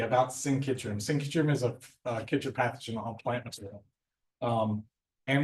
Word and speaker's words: chytrid: So chytrid, is that how you pronounce it?